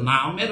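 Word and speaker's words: نعم: জি, তো শুদ্ধ উচ্চারণ হচ্ছে নাম।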